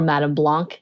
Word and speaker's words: Madame Blanc: and he apparently is the go boy for Madame Blanc is how they say it essentially he he